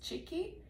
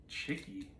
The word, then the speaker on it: Chikki: I believe it's Chikki, that's how you say it. It's a product from India. Chikki?